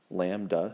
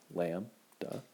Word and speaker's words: lambda: Lambda, say it with me, lambda.